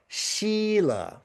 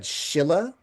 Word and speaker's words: Sīla: it's pronounced differently, but I'm pretty sure I've come to a very clear conclusion that it's a long I. So it's Sīla.